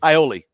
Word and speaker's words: Iole: And then Shane, how do you pronounce Kevin's last name for me? Iole.